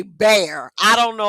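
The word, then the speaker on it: Bexar: Texas see B X A R and say bear.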